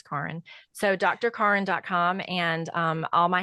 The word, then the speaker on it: Karin: My first name is German. It's not Karen, it's Karin.